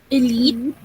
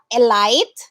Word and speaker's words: elite: not schedule all right it's schedule elite not a light elite elite through not throw